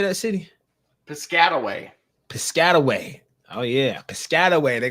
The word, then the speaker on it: Piscataway: yeah how how do you say that City Piscataway Piscataway oh yeah Piscataway they gonna go that